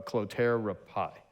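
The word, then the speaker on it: Clotaire Rapaille: pronounce Rob how what's his how do you pronounce his last name uh clotera pie okay and he says like when someone asks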